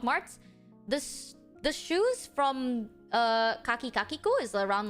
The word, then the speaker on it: Kakiku: A store named Kaki Kakiku. It's spelled K-H-A-K-I-K-A-K-I-K-U. Kaki, like khaki, Kakiku.